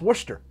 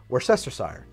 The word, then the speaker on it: Worcestershire: oh but that's pronounced Worcester Worcester sauce or something like that and I would say that is a regional pronunciation because in American English that is pronounced Worcestershire I just think that